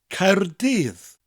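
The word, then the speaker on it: Caerdydd: capital city of Wales Cardiff or in Welsh coyotes coyotes spell see a er D Y double D the first syllable ends with a rolling are higher and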